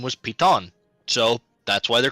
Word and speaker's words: piton: and his name was Piton. So that's why they're called pitons. Mhm. But he's got me calling them pitons or pythons now. Son of a bit. It's Piton, damn it.